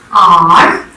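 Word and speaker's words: hour: Are, honest, air. Now when I am speaking or pronouncing R, I am not pronouncing H sound over here. H is silent over here, okay. I am pronouncing R.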